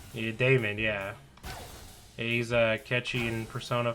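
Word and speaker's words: Daymond: Damon? Yeah, Damon.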